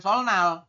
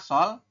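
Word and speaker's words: 설날: Jadi bacanya bukan solnal, tulisannya memang solnal, tapi kita bacanya bukan solnal, yaitu dibacanya adalah solal ya. Kalau dalam Latin kita bacanya itu solal.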